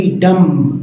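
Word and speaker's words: dumb: कॉम का मतलब कंगी डी य एम बी डम डम नहीं डम बी यहां भी साइलेंट है डम में क्लाइम में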